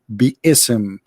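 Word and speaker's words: بسم: the sheikhs agree that the word is not basim it is be ism and let me show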